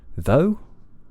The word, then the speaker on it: though: So goat words include though, although, and dough. So a lot of these might get mispronounced. I hear that quite a lot. Though, rather than though. Yeah, make sure your lips begin relaxed.